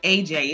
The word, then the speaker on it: Ajai: you guys can under it's just pronounced AJ it just looks more